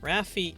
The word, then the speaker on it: Rafi: pronunciations are valid except ravi is what i call my brother's cat ravage as both aren't the right one rafi is correct that is literally your